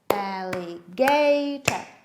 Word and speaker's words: alligator: How many syllables are there? Alligator. 4 syllables. Which syllable is stressed?